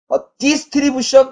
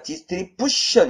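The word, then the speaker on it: distribution: 이런 발음을 들어 보시겠어요 디션 아닙니다 디션 이죠 예 2의 제곱 예 TI 앞에 강세가 옵니다 예네 이렇게요 이렇게 되죠이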